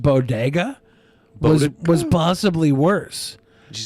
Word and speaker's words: bodega: the way she pronounced bodega was possibly worse. Did you say bodega? She said bogada. Bogada. A bogada. Didn't even say bodega would have been better.